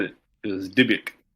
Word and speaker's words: Dybbuk: I'm terrible at pronunciation. Sarah solved it for us. You said it. It was Dybbuk.